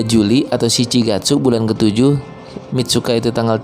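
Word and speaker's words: 三日: Oh, Shichigatsu sang nichi ni atau Mitsuka ni Nihon e ikimasu. Ya, tulisannya itu memang sang nichi tapi dibacanya Mitsuka.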